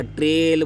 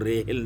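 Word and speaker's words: trail: रेल नहीं बोला, ट्रेल बोला बच्चों, रेल नहीं बोला, ट्रेल।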